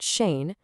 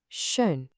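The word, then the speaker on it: schön: Shape your lips like you're about to say ooh. But then with your mouth in that shape, try to make an e sound with your tongue. It brings the sound right to the front of your mouth. Go on, try it. Ooh. Shun. Not Shane, but Shun.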